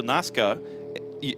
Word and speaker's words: Nasca: Well, Alberto Nasca has a multiple race winner in Europe. NASCAR, just with a silent R.